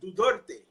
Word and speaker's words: Duterte: Duterte. It's Duterte, like Duterte. Duterte, but without the H.